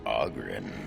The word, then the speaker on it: Oghren: The name's Oghren, by the way. But the ladies pronounce it Oghren.